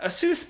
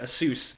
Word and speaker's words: ASUS: but along with that asus put out a statement and yes that is actually how you say it asus asus said it's reducing